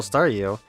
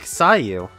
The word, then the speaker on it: Staryu: still just a little Staryu, I could never pronounce his name right. It always ended up sounding like Sayu.